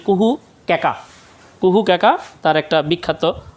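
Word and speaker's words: কুহু ও কেকা: একটু খেয়াল করো, আমি বোধহয় স্লাইড পড়তে যাইয়া এই উচ্চারণটা একটু ভুল করেছিলাম। তার সত্যেন্দ্রনাথ দত্তের আরেকটা বিখ্যাত গ্রন্থ নাম হচ্ছে কুহু কেকা।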